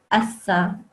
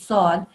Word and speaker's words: ص: Some people accidentally sort of make it sound like it's a scene, assa, but actually it's sod.